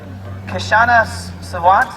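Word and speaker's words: Kshama Sawant: She's a climate scientist and has worked on the Kashana Savant.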